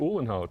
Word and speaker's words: Uhlenhaut: Uhlenhaut.